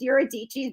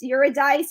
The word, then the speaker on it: Eurydice: his lover Eurydice, which there's a few different ways to say her name and I liked Eurydice's best. Eurydice is how some people say it. I feel like Eurydice is way more fun to say.